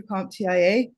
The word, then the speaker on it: CompTIA: in my 20s and I pursued my first comp Tia search I've always pronounced it comp Tia but I've also heard